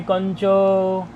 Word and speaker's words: कञ्च: दृशो नालोचने कंच, ये कार है तो नकार जैसा उच्चारण निकलता है इसका, इसलिए कंच बोल दिया।